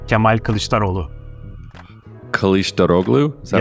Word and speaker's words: Kemal Kılıçdaroğlu: That's a bit difficult to pronounce. It's Kemal Kılıçdaroğlu.